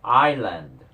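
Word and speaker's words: island: 견디잖아 자네 번째 단어 아일랜드 자 이거요 여러분들이 발음 조심하셔야 돼요 여기 지금 S 있죠 발음 안 합니다 아이 아이 하고 바로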